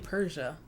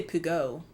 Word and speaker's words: Peugeot: my bed was saying Persia it's that um I always say Pugo but it's called Persia and why the [